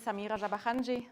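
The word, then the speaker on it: Samir Jahan: great good morning everyone my name is Samir jaahan that's how you pronounce it but I don't blame anyone who just calls me Samir that's what I prefer um I'm postdoctoral researcher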